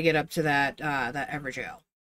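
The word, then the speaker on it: Evergaol: And then we'll figure out how to get up to that, that ever jail. It's spelled weird, but it's technically supposed to be the word jail.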